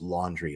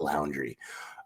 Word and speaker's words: Laundrie: And obviously, being the most wanted man in the country right now, he's not, it's actually pronounced laundry, not laundry.